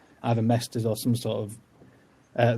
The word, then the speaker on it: Mester: word doesn't it some people kept saying it's pronounced maester but that's more game of thronesy to me than anything else yeah um so i say mester and then on my website i was quick